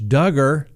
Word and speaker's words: Duggar: we'll see what happens there who will josh duggar rhymes with hugger be hugging tonight in